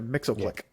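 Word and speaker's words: Mxyzptlk: yeah you nailed mix see I can't no Mixel click Mr Mixel click oh okay so look we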